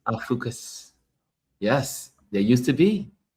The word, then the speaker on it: Ophiuchus: The 13th zodiac sign, Oh, how do you pronounce Ophiuchus. that? Opicus. I think it's Okay. Ophiuchus. Ophiuchus.